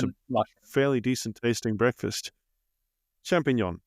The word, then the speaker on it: champignon: Champignon, yeah, the French ones. I mispronounced it. I said champion mushroom.